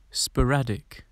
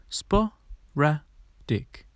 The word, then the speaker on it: sporadic: today's word is sporadic sporadic it's pronounced spa ra dick but what does the